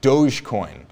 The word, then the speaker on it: Dogecoin: And then we've got David Finkelstein reminding me that Dogecoin is pronounced Dogecoin, of course.